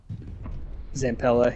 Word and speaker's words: Zampella: Zampella, yeah.